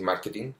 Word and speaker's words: marketing: Ya, pero siendo que no está mal decir marketing, aunque igualmente tengo que hacer la salvedad que la Real Academia Española lo ha escrito correctamente y es con Q y acento en la A, ya nosotros seguimos usándolo